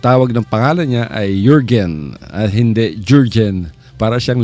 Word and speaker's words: Jürgen: Itong pangalan ni Jürgen maraming mga media nagkakamali dito, hindi nila ma-pronounce ng tama. Pati ang spelling kasi nito Jurgen. So ang pinopronounce sila as Jürgen. Pero alam nyo mga kaibigan, sa Europe, yung letter J, ang pronunciation nila dyan ay letter Y. So instead na J, magiging Y yan.